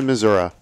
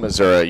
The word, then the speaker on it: Missouri: it's all thanks to Missour and you do not pronounce the I when you say Missour okay thank you I'm not from the Midwest well if you're from Missouri you definitely say Missour